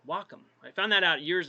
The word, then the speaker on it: Wacom: to my tablet here which I've always called Wacom for years but apparently it's pronounced Wacom I found that out years ago from one